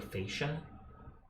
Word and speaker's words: fascia: You said the word mostly right, you gotta pronounce it. The A, like you would in face. So fascia.